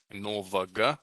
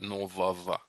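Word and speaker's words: нового: Remember, this is the g letter that on the endings of words is often ends up being pronounced like a v. So not novaga, but novava.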